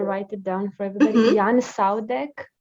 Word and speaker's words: Jan Saudek: I think his name is pronounced. I'm gonna write it down for everybody. Jan Saudek.